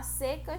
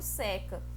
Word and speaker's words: seca: Quando a seca chega no sertão, o rio seca. É homógrafos, porque elas têm a mesma grafia, só que se pronuncia diferente, ó.